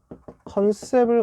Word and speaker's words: 컨셉: 첫 번째는 컨셉을 갖춰야 되겠습니다. 컨셉트라고 썼는데 읽는 거는 영어식으로 컨셉 이렇게 읽으면 되잖아요.